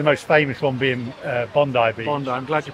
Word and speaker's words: Bondi: that's obviously the most famous one being uh Bondi be Bondi I'm glad you pronounced that right yeah well how did they